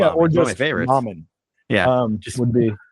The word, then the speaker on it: Momin: Mommen. Yeah. Just would be like log with it phonetically spelled out so everyone knows it's actually Mommen.